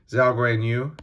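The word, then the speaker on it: Zhou Guanyu: Lewis Hamilton, Nicholas Latifi, Zhao Guanyu. That's how you say his name. I just totally butchered that earlier, didn't I?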